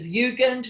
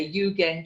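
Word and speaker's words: Jugend: poster the front of ugand which was the famous secession magazine i should actually say you again steel magazine that comes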